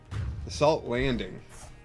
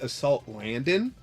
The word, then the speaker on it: Assault Landing: Assault landing. The kids at my uh my local league uh when they're playing Fan Roton, they always pronounce it Assault Landon.